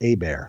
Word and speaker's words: Hebert: Looks like Hebert, but it's pronounced a bear, like a bear is attacking me.